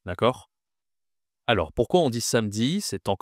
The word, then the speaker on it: samedi: Ce jour s'appelle samedi. Samedi.